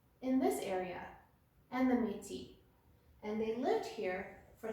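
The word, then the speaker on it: Métis: Nations and number three meaty the S is silent and these people lived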